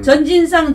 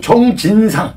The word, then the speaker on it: 정진상: 전진상 전 경기도청 정책실장이에요. 이 사람은 최측근의 인물이에요, 이 사람이. 정진상. 네, 전진상. 정진상. 정진상. 그게 네네. 이재명이. 발음을 잘하세요. 정의 정. 네. 정, 네네. 전이 아니라.